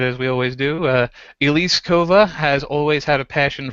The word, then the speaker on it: Elise Kova: Uh Elise Kova has always had a passion for storytelling.